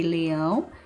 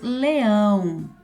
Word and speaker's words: leão: Depois, leão é oxítona. E qual que é a sílaba aqui? É o ão.